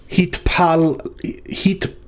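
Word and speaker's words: התפלל: The tav in the second consonant has a shava that's closing the syllable heat. The pei with a dagesh is following a consonant sound, not a vowel sound. So that's dagesh lena. So it is not a doubling.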